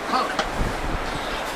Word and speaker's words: conch: I know what you're probably thinking when you can't be in Key West more than 10 minutes without hearing the word conch. And that's spelled C-O-N-C-H, but it's pronounced conch.